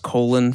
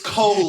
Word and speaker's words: Colin: Colin, but pronounced colon for like no reason.